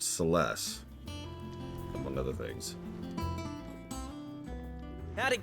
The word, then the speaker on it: Celes: that's also when I found out that it's pronounced celes among other things how'd it go Clive did